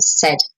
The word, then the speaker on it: said: It's not said, no, said, so it's like an eh sound, said.